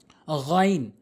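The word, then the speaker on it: غ: গইন, গইন, গইন 7 লেখা রয়েছে। এখানে দেখবেন খর উপরে 7 লেখা রয়েছে, অর্থাৎ 2টি হরফ রয়েছে। 29টি হরফের ভিতরে 2টি হরফ রয়েছে যেটি হলকের শেষ থেকে উচ্চারণ হয়।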